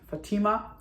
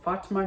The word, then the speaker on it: Fatima: The story is called about Fatima or Fatima, depending on how you say it.